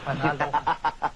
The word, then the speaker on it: panalo: Panalo. Panalo. Panalo. Yeah, he taught me how to say it the right way. Panalo.